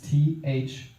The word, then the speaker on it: Thomson: It's THOMSON. It's a name you savor. Yeah, right there in the middle. Thomson, no P. Son of Thomas is the etymology. And it's the right way to spell it, too.